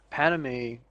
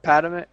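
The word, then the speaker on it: Padmé: Padme, close enough. Padme? What is it? Padme. Padme. My bad. I threw in an extra A.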